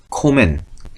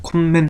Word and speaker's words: komme: 근데 콤맨 하지 않습니다. 그냥 코멘.